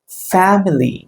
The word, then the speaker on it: family: இட்ஸ் ஃபேமிலி. Okay, ஃபேமிலி. ஸோ you have to give stress here. ஃபேமிலி. ஃப அப்படிங்கிறது stress கொடுக்கணும், மிலிங்கிறதுக்கு தேவையில்லை. ஃபேமிலி.